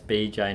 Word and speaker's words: BJ: Oh, sorry, BoJ. It's BJ, not BoJ.